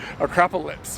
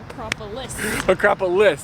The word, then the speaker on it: Acropolis: morning up at the Acropolis, right? No. Acropolis, there we go. I kept saying it wrong and I'm not very smart.